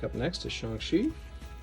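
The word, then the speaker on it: Shang-Chi: like up next to shanxi now we know to say it that way because of the movie you might also call him shang chi depending on how you pronounce it his three special cards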